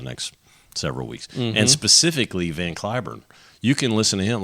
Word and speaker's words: Cliburn: and she said Mr van curn and I thought yes welcome to Moscow so all the time I was there I never told him that in this country we pronounce it van kurn so I have two